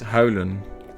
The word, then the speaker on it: huilen: Which is written H-U-I-L. Which will make Anglophones pronounce it like wheel, because they're funny like that.